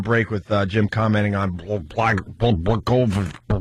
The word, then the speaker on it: Blagojevich: So we go to break with Jim commenting on Blagojevich. How do you say his name? Governor of Illinois. Does anyone have the real pronunciation?